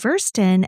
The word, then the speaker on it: Würsten: Good job pronouncing Würsten. I just saw you looking at me. I know the W's sound like V's. Yes. And I know the EI and the IE are flipped from how they are in English.